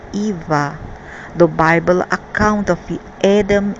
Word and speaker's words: Yahweh: Yahweh is pronounced Eva.